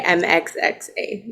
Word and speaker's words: MXXA: And mine is you can just say MXXA. That's how I say it.